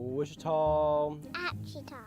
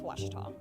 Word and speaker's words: Ouachita: oh a cheetah oh wichita oh a cheetah is it pronounced oh aikida searching for washi at a baptist university back in texas everybody pronounces it wichita but really it's ouachita washington washington how would